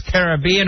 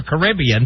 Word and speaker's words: Caribbean: that it's not like it's caribbean or caribbean right there's one way to